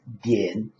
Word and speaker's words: 点: The next one is 点, 三声, third tone, 点.